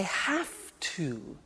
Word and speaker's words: have to: I have to. Notice I don't say V, I say F. Have. It becomes have to.